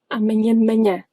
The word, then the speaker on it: amanhã: A lot of people pronounced amanhã, de manhã as three very distinct words. Even if they were well pronounced individually, one after the other, this is what we want to get to at some point. Amanhã, manhã, one sound.